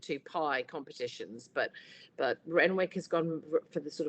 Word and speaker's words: Renwick: Renwick right apparently is Renwick it's not renic as I think it should be pronounced it's Wick uh is kind of